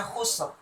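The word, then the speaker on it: خسر: Jadi ini juga dibaca dengan tebal ro-nya. Khusr. Cara membacanya khusr.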